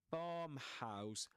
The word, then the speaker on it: farmhouse: As I as I mentioned in previous episodes, farmhouse bomb the vowel sound there in that syllable bomb rhymes with car. Okay. As well actually in at the very beginning of the story the word car is mentioned. here, doesn't it? So, it rhymes with that word. So, we say farmhouse car.